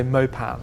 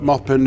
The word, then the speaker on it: Maupin: imagine arm said that lots of British people say mopan because they we see the spelling and we think the French they yes that's right yeah but mopin is where from where